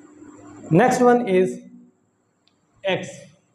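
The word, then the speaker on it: equis: Next one इज एक्स। एक्स को हम pronounce करते हैं एकिस, एकिस।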